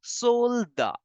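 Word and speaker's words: soldat: in French simply as solda soldier simply as solda the T in the end is for decoration sold the for the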